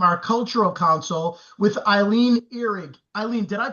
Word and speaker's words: Ehrig: No problem at all, because the correct German pronunciation is Ihrig or Ihrig.